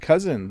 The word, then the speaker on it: cozen: for a sec oh it's pronounced cousin the same way actually and it means to